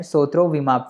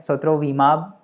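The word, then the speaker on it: sotrovimab: but anyways, सोत्रोविमाब जो है, सोत्रोविमाब विमल जैसा साउंड कर रहा है सोत्रोविमाब और बैरिसिटिनिब, तो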